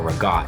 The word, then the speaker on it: ricotta: kind of cheese called ricotta or ragotte, if you're like very Italian, you want to pronounce it that way.